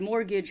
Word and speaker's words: mortgage: The word mortgage has a T in it, but it's not pronounced.